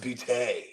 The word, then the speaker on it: Boutte: Like, I mean, he's booty. It's French. It's pronounced Boutte.